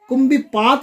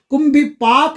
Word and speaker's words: कुंभी पाक: कुंभी पात नहीं कहना, असली नाम कुंभी पात है, लेकिन आपको जो मंत्र में बोला गया है वही शब्द का उच्चारण करना है। कुंभी पाक नरक में पड़े, धोबी